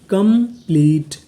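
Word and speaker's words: complete: कम, PLE, plea, TE इसे पढ़ेंगे टा, क्योंकि आखिरी में ई है, हमें ई का उच्चारण नहीं करना। तो पूरी मीनिंग कंप्लीट, कंप्लीट, कंप्लीट।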